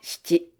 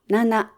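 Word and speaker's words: 七: Tiếp theo là go roku nana, hoặc shichi Số này cũng có hai cách đọc. Cách đọc nana được dùng nhiều hơn. Vì shichi thường dễ bị nhầm với ichi, nên đôi khi người ta cố ý đọc là nana.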